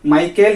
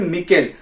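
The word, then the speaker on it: micelle: हैं जिसका नाम है माइकेल या फिर मिकेल, प्रोनाउंसिएशन आप वेरी कर सकता है।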